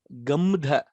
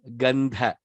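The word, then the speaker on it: गन्ध: Mukha, it is not what we said. It is not gamdha. It is not gum fevicol like that. No, it is gandha.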